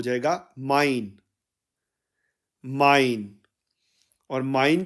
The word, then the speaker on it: mein: German में translate करेंगे तो यह हो जाएगा माइन माइन और माइन के स्पेलिंग इंग्लिश में एम ई आई एन के